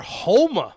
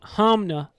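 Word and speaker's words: Honma: Homa. Hamna. How do you say it? Hamna. Oh, it's an N. It's H-O-N. Yeah. M-A. Hamna. I always thought it was H-O-M-M-A. No. I'm Hamna. always saying Homa.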